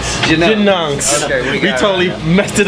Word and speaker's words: Genungs: Pronounce the name of this back. It's Genungs. Genungs.